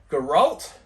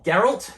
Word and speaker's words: Geralt: So, before we get into that, we'll go straight to the first one, which is Geralt, or Geralt, depending on how you say it.